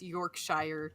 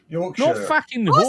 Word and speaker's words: Yorkshire: My My husband still says it's York Shshire T. He's not going to concede that one.